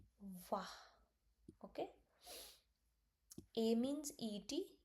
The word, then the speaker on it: et: A means e t. E t the word means and pronounced like e only.